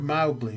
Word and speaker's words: Mowgli: blessing and said that the word Mowgli was pronounced Mao as in cow and to pluralize the